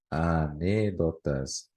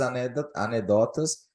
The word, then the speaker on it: anedotas: quer dizer né anedota sempre confundo anedotas não anedotas porque anedotas porque a net se fosse anedotas tinha que ser acentuada porque seria uma proparoxítona proparoxítona Obrigatoriamente acentuada então é anedotas a pronúncia né Então olha só